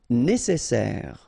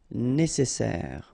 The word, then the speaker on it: nécessaire: Nécessaire. Don't insist on the final E. Nécessaire.